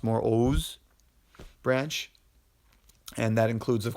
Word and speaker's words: Oğuz: The Turkic language family is broken into the Oğuz branch, spelled Oguz, but it's pronounced more Oğuz branch, and that includes, of course, what you hear Turkic.